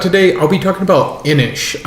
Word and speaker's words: Inis: So for the last game I'll be talking about today, I'll be talking about Inish. That's spelled INIS.